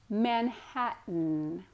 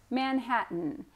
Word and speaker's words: Manhattan: times so first time is listen to the pronunciation second time try to say it with me okay let's get started Manhattan Manhattan and you may be thinking there's a tea